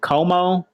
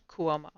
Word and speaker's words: Cuomo: york how you say it's not como cuomo cuomo um y'all he was